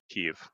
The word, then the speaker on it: Kyiv: It's All in right, Kiev. hold on. Kyiv. What? I'm not going to pronounce it the Russian way.